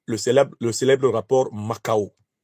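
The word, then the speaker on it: Mackau: célèbre le célèbre rapport makao qu'il faut lire makao s'écrit M a C K et qui reconstitue les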